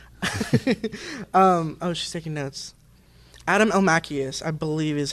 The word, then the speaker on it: Elmakias: Adam Almachius, I believe is how it is how you pronounce it. It's Elmakias.